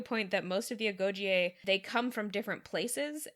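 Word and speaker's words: Agojie: On the pronunciation, I thought they pronounced it in the movie Agogie. I think they're kind of doing a diphthong at the end.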